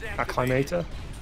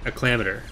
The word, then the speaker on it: Acclamator: Like, Acclimator? I prefer saying acclamator. That's just how I said it when I was a kid. It feels more comfortable to me.